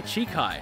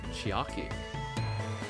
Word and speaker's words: Chiaki: Why did I say Chihai? I can't even pronounce the name. Chiaki.